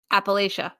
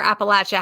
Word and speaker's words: Appalachia: Yeah, because for me, because District 12 is literally Appalachia or Appalachia, however you want to pronounce it.